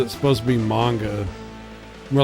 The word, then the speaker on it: manga: And he was mispronouncing manga as manga. And he wasn't the only one. Like they would like scream manga. And my brother was like, I think it's supposed to be manga.